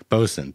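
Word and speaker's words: boatswain: only ever read Fair bosen bosen it's a silent W and a t that's also and it is sometimes spelled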